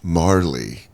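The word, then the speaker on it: Majerle: the back they say last name pronounced Marley cuz of the J like oh dude I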